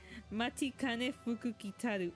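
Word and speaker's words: Matikanefukukitaru: I am not leaving this until I find out how to pronounce her name. Matikane Fukukitaru.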